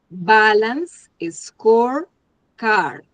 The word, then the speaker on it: balanced scorecard: Bueno, entonces, me pronuncian bien y la tarea para todos es que pronuncien bien la palabra porque esta palabra es una herramienta que en algún otro momento la van a ver y que y el objetivo es que la pronuncien bien en inglés. Es balance, score, card.